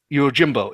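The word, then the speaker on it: Yojimbo: way to say it yes it's actually yeah you Jimbo it's actually it's actually also a movie out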